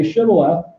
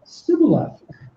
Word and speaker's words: Shibboleth: When he said no, they said to him, "Then say Shibboleth." And he said, "Sibboleth," for he could not pronounce it right.